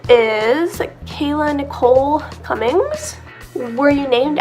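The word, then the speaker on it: Calla: I think it's supposed to be pronounced Kayla, like the Kala lily, but they thought it was a Kayla lily. Anyway, so people were pronouncing it Kala, and they didn't want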